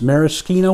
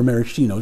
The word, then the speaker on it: maraschino: vermouth one quarter ounce maraschino or maraschino depending on how you prefer to pronounce it liqueur one dash angostora